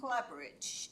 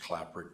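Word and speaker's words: Klapperich: We have, Clapperidge is first. Thank you. Thank you, Madam Mayor. Council, my name is Clapperich, K-L-A-P-P-E-R-I-C-H, usually pronounced Clapperich, but it's pretty long, so we'll take whatever comes out.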